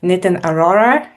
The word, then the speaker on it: Nitin Arora: Thank you for having me, Professor NITIN ARORA.